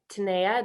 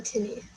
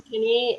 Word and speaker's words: Tinea: We've got Chloe Yao and Tinea. Did I pronounce either of those last names right? I'm Tinney, but yes. Tinney and I'm Chloe Yo.